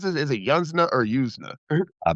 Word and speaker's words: Yuzna: that on the page and how do you pronounce this? Is it Yansna or Yusna? Brian Brian Yusna Yusna.